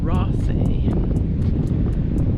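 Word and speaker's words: Raasay: So, the view from here, you can see the island of Rasi.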